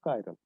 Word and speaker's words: chiral: The correct pronunciation is chiral.